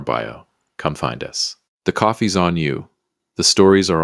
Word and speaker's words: Kofi: We've set up a Kofi page, that's k o f i, pronounced just like coffee, and the link is in the description and on our bio.